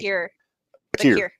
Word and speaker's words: Vaquer: I always get her name wrong. Stephanie. Bakir.